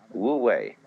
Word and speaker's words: wu wei: It's called in Chinese Wu Wei. Wu, non-wei, striving. In Japanese, Mui. I is Japanese for pronouncing the Chinese way.